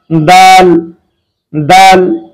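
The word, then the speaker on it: دال: যে জিহ্বার আগা সামনের উপরের দুই দাঁতের গোড়ার সঙ্গে লাগিয়ে উচ্চারণ করতে হয় দাল দাল।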